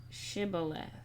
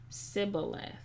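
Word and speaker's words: שִׁבֹּלֶת: he said no they said to him then say shibboleth and he said shibboleth and he said sybileth for he could not pronounce it right then they seized him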